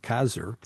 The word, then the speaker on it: CASR: space Reserve program or I think you pronounce it kazer encompasses different capabilities how